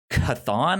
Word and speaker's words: Chthon: That's a different book, but it is a like dark magic book from Chthon, I believe is how you pronounce his name. It's like Cthulhu, and that's basically what it is.